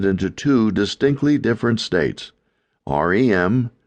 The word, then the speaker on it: REM: Rem pronounced as a single word rem or rapid eye movement sleep and nonrem sleep.